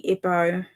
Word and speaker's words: Igbo: How do you say this one again? Igbo. Igbo. So ignore the G.